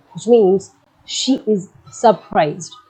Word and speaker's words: surprise: Elle est surprise, which means she is surprised. So you can see the difference in the pronunciation as well. Il est surpris. Elle est surprise.